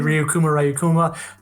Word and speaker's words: Ryukuma: How did your username come to be, Ryukuma? And are we saying it right? No, yeah, you're saying it right, Ryukuma.